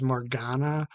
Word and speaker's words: Morgana: So Morgana or Morgana, I don't know how to say it, but they pronounce it as Morgana in the series.